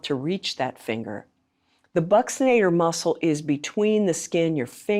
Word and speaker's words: buccinator: Now, some people say buccinator, but as I often say to my students, ask your aunt or aunt how she says it. Often the way we pronounce an anatomical term relates to how we learned it from our own teacher.